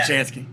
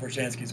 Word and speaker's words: Brzezinski: I'm not even going to try to pronounce his Brzezinski. Last name. Yeah, Brzezinski.